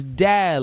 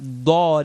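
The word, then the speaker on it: دال: Now this is dal, like you're smiling. Dal, not dad, as if you're about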